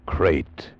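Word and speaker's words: krait: a man trapped in his bed by a crate the most deadly poisonous snake in the world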